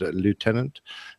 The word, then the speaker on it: lieutenant: first and second syllables most English english-speaking nations with the exception in the United States still pronounce the word as though there is an F in it so it's all about